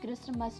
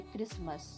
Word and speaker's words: Christmas: क्रिसमस क्रिसमस में T silent होता है, तो जब भी हम प्रोनाउंस करते हैं तो टी प्रोनाउंस नहीं किया जाता, इसे क्रिसमस नहीं बोला जाता। इसका करेक्ट प्रोनाउंसिएशन है क्रिसमस।